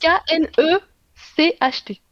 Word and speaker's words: Knecht: Dalton Knecht, Comment ça Knecht, s'écrit? Knecht. K-N-E-C-H-T.